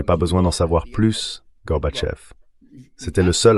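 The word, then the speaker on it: Горбачёв: J'ai appris au vice-président George Dabou Bush à prononcer Gorbatcheev. Il me dit "Oui, oui, d'accord, Garbage.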